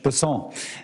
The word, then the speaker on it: Bessent: Cassidy um Mr bassant I'm always going to pronounce your name as if it was in south Louisiana and I'm GNA pronounce it with a French basson as opposed to bessent that's with those folks in South Carolina do um I'll try